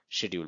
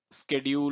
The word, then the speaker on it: schedule: Schedule is more of an American pronunciation. Schedule is more of an Indian pronunciation.